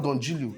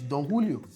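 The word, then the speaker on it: Don Julio: in school continuous learning it's not donilio it's donulio I didn't learn it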